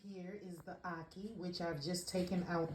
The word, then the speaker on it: ackee: anki and salt fish now i may have pronounced that wrong because my accent and a jamaican accent it just it it just be having a little issues but it's aki and saltfish come with me